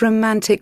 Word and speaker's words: romantic: What's the most romantic restaurant you've ever been to? Okay, so you see that? That's why. Okay, British people, they pronounce the T really stressed.